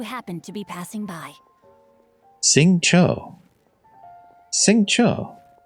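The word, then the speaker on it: Xingqiu: Sing Cho. Sing Cho. I have been pronouncing that Sing Chow, I think.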